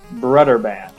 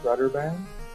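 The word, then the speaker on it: Brøderbund: Uhu, but I believe it's brotherband. Brotherband. Brotherband. Okay. Now, Brotherban, do you want to know the history like why it's called BrotherBand?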